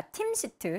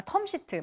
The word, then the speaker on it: 텀시트: 판매 텀시트 계약이라는 것을 아 팀시트 죄송합니다 아 텀시트 맞습니다 TM 이니까 텀이 아는 발음 맞죠 오늘 황반 변성 때문에